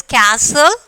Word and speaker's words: castle: So, first word is castle. We are not pronouncing the T. So, T is the silent letter.